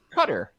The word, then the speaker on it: Qatar: have some supporters go all the way to qatar or i heard someone say it the other day cutter yeah the cutter guitar however you want to pronounce it uh i'm interested i'm really interested